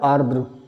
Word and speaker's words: आर्द्र: आर्द्र माने ह्यूमिड, आर्द्र, आर्द्र का मतलब क्या होता, वैसे सही जो प्रोनाउंसिएशन उसका है वो है आर्द्र, है ना, आ फिर रा फिर दा फिर उस पर रा, तो आर्द्र।